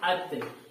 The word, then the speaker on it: अतः: ये देखिए अत, जिसका कोई अर्थ नहीं होता है ना? त के बाद हम विसर्ग लगाते हैं, क्या हो गया?